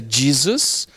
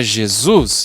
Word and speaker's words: Jesus: Então nós temos até o exemplo de Jesus, que em inglês é Jesus, com a sílaba tônica no Jesus, e em português é Jesus.